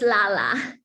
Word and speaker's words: Lala: So is it Layla? Is that how we would pronounce? Is that how to pronounce it? It's Lala. Lala. Very good.